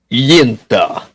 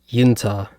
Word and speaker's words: Uinta: Yeah, and if you do it with a Russian accent, it's pronounced Yinta. Yinta. According to Google Translate.